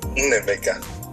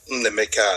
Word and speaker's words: Nnaemeka: Nnaemeka. Oh, you don't pronounce the A?